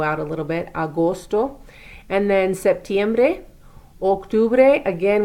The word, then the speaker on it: agosto: And then we have Agosto. Those are long O sounds.